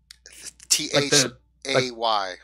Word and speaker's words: Thay: He would be, you would assume, from Thay. He is a thing. From Fae? Yeah. With an F? T-H-A-Y. Oh, T-H. Okay, I thought you were saying Fae, like F-E-Y. No, Thay.